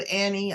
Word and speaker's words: Anne: n n e I pronounce my name Annie but it's a n n e um I'm on Facebook